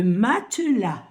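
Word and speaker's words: matelas: e l a et avec un S qui ne se prononce pas le mat dans la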